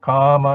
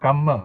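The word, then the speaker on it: kamma: of such desire is notice how karma is spelled k m a okay so poly is easy to learn because what you see is what you get you pronounce it the way it is spell okay not gamma okay because then it refers to something else yes and you you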